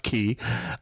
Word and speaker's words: Quay: started Us in circular key and for those of people who don't know we're spelling key Quay yeah but it's pronounced key uh and circular key